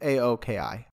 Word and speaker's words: Aoki: It's A-O-K-I, Aoki.